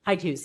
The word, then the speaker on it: Hyde Hughes: On page 4, the Lee Hyde, is it pronounced Hyde Hughes? Hyde Hughes, yes.